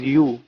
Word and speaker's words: YU: Micromax sub-brand YU, which is also sometimes pronounced as U, started off pretty well, but it soon witnessed a downfall.